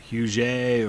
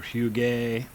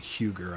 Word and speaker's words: Huger: Yeah, I've read that it was pronounced like Huget or Huguet. I think it was kind of the French pronunciation. Is how his name was. It definitely wasn't Huger.